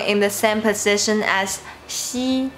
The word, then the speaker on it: x: Xi.